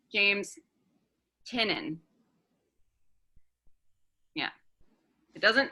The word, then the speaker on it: Tynion: It's James Tynion.